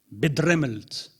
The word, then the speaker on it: bedremmelt: Tu vas me dire si je les prononce à peu près correctement. Bedremmelt. Très bien, Jacques.